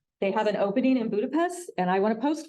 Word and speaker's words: Budapest: in Budapest Hungary and I'm pronouncing Budapest nothing wrong with my speech that's how the hungarians pronounce their s's so when you get over there you're going to see that it's referred to as Budapest uh he said everything's